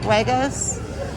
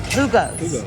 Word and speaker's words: jugos: Huegos? With a, how do you say it? Jugos. Jugo. Jugo.